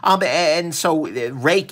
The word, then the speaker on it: Ruike: They say it's pronounced Rake. I'm probably not going to pronounce that properly just because this does not spell Rake.